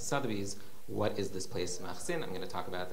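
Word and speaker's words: Makhsin: the community of, and he calls it Machsin. Does everyone see that? M-A-K-H-S-I-N. That's how he read that word, which in Hebrew is spelled Mem Aleph Kaf Samach Yud Nun.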